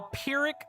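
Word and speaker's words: Pyrrhic: I'll spell that as well because it might not sound like you think it does. Okay. So, that that's how you would spell that. The the victory part is easy, but pirick is is not.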